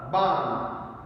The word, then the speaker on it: barn: Kim did her homework in the barn. So R is silent here, barn.